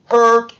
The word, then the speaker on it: hurt: Herir, hurt, hurt, hurt. Recuerden, cuando tenga la combinación U-R-I-R-E-R, es poner la boca siempre igual en la misma posición de O, pero pronuncia una E. Hurt.